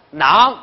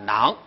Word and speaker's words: 囊: 陆德明说囊应该是读乃郎反，乃的声母加上郎的韵母和声调就是囊。